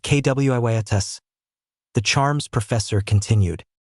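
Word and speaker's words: Quietus: It's the quias charm pronounced kwiatus.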